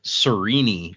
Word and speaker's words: Serene: we've read Serene see this one is deceptive uh it looks easy but it is another one of those with the hard consonants so it is actually serini is the correct pronunciation sirini yeah I was